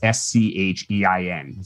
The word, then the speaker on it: Schein: Oh, I should also say, because no one gets this right, Schein is not spelled like shine. It's S-C-H-E-I-N.